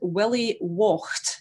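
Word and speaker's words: gude-willie waught: And now Neil instructed me to say, in the last verse, third verse, we'll tack a richt good willy wocht, is the pronunciation of the third line.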